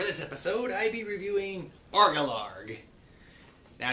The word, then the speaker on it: Orgalorg: episode I be reviewing argillard now to make sure there'll be no misunderstanding of me pirate accent it is spelled o r g a l o r g ARCA larg all right so the